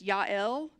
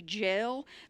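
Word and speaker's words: Jael: then i was like it's ya'll like the j isn't even pronounced but then i would say that the english way would be jail but cicero fled away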